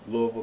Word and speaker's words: Louisville: father and his father and mother are from Louisville Kentucky nice okay good connection did you hear how I pronounce that L did Lou no I said